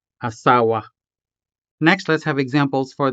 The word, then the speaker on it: asawa: of this syllable, because this word asawa has 3 syllables, a, sa, and wa. Therefore, it is considered as a full-blown syllable. So again, wasay, wasay, asawa, asawa.